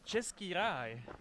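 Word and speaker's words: Český ráj: the Czech language yeah it's called chesai chesai so the Bohemian Paradise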